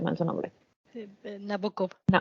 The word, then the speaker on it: Nabokov: Ay, siempre pronuncio mal su nombre. Nabokov. Nabokov.